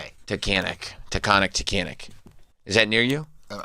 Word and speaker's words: Tunkhannock: Taconic. You're both saying it wrong. Tunkhanock.